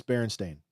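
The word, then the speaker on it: Berenstain: it could be and it's Baron stain I believe it's stain not Stein barain Steen barenstein but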